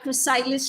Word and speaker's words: chrysalis: It's like the chrysalis state. That's the way it's pronounced.